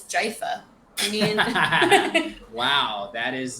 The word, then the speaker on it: GIF: right i think we can all agree it's jaifa i mean wow that is uh i haven't